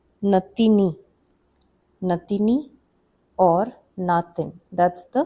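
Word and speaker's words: नातिनी: Then we have the term natini or natin. These two terms, natini, sorry, there's no double A here. It's just natini.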